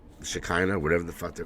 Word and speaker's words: Shekinah: Shekinah, that's how you say it.